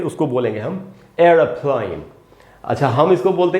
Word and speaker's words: aeroplane: होता है, ए ही होता है, जिसको पढ़ेंगे एरोप्लेन, एरोप्लेन, इस प्रकार से पढ़ना है। अच्छा दोस्तों, अमेरिकन में स्पेलिंग भी बदलेगी और प्रोनाउंसिएशन भी बदलेगा।